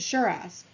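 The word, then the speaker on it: Cheras: located in Kuala Lumpur suburb of Sharra's which is pronounced Shiraz and so the video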